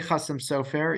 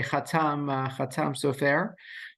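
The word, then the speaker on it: Chasam Sofer: So I say Chassam Sofer, even though the academics would say Chatam Sofer, but it's my belief that we should probably pronounce the things the way that the people themselves pronounce the things. I can assure you, to the extent that the Chassam Sofer ever said the words Chassam Sofer, he said Chassam Sofer and not Chatam Sofer, even though I'll come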